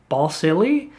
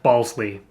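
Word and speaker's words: Balsillie: his name out and it looks like ball silly the way that it's spelled out and so she questions him she says ball silly and he immediately firmly just says balsley and you can tell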